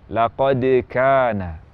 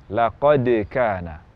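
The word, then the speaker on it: لقد كان: Jadi yang tepat laqad kana, laqad kana.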